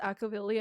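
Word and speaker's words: Akivili: But who could say that Akavili on a new journey won't bring another It's pronounced Akavili and not Akavili?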